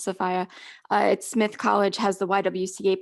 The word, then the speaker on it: Sophia: collection i know it looks like sophia it's pronounced sephia smith college has the ywca papers i think